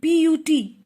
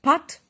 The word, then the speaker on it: put: b-u-t it's but and p-u-t is not part but it is put because of the notoriously